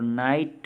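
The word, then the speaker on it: knight: तो वो वर्ण है GH, और नाइट में के भी अनुच्चरित अर्थात साइलेंट है।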